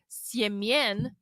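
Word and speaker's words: Семён: so I was on Russian Tinder, and I encountered more than one person named, when you pronounce it correctly in Russian, Siemien, Semen.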